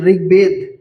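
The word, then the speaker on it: ঋগ্বেদ: ঋগবেদ। ঋগবেদ থাকলে ঋ উচ্চারণ র মত হয়। বলছিলাম ঋগ বেদ।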